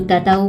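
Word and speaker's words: tahu: तो ताहू का जो एच है ना, वो यहाँ पे साइलेंट बोलते हैं, यहाँ पे ताऊ बोलते हैं, ताहू नहीं बोलते।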